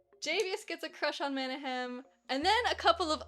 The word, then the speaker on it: Manahem: Listen, her name is Manahem. It's spelled like this. M-A-N-A-H-E-M. That's Manahem.